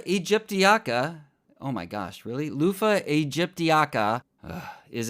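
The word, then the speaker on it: Luffa: Lofah Egyptiaaka is its scientific name. Lofah is spelled L U FFA and the shell of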